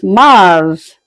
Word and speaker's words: mars: March is is pronounced as Mars.